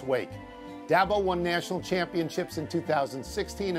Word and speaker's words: Dabo: you know him as dabo which is a kind of a scrunched up pronunciation of that boy he has built clemson